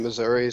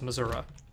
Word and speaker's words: Missouri: Have you ever met anyone who says Missouri? Yes, and they're wrong. Ooh, damn. And why are they wrong? Because there's an I at the end of it.